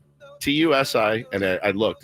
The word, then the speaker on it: Tusi: Everyone's saying it potentially is is called um Tusi, TU SI, and I looked, it's how you pronounce it, Tusi.